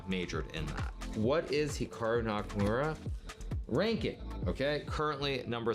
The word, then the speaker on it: Hikaru: pronounce Hikaru nak now even myself when I pronounce my name it's definitely more Americanized versus Japanese certainly if I was pronouncing it correctly it would be more like Hikaru as opposed to Hikaru but I've spent so